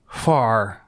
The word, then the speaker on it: Hvar: Hvar. You have to pronounce the H and the V very quickly.